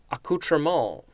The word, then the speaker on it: accoutrement: Next we have, I'm going to try to pronounce this correctly, accoutrement. A-C-C-O-U-T-R-E-M-E-N-T. I have definitely heard this word. You could also just say accoutrement. I think that would be the English pronunciation.